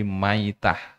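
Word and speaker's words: مَيْتَة: mati ya mitatan jahiliah di situ bukan bacaannya maitat tapi mitatan. Kalau maitah artinya bangkai. Kalau mitah itu kondisi atau halnya mati itu seperti kematian saat jahiliah. Nah, kalau di sini bacanya bukan mitatan, tapi maitah, bangkai.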